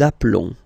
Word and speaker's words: appelons: So we've got only one L, like here in the infinitive form. So that's the reason why I've been pronouncing appelons.